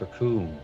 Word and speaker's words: raccoon: read this real quick their name is raccoon it rhymes with doom uh can i hold